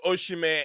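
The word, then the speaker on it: Osimhen: Napoli without Victor uh it's the name Victor oshime is the pronunciation as to say can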